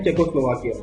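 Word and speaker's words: Czechoslovakia: भाई चेकोस्लोवाकिया ठीक है इसको प्रोनाउंस ऐसे करेंगे पहले बोलेंगे चेको फिर बोलेंगे स्लोवाकिया हो गया चेकोस्लोवाकिया ठीक है तो ऑस्ट्रिया को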